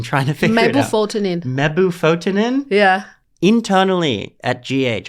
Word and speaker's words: mebufotenin: Okay, how do you pronounce that? I've been trying to figure it out. Mebufotenin.